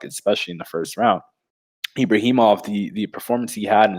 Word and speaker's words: Ibragimov: punches that's thrown his way how do you pronounce his last name? I'm so bad at it. Ibrahimov.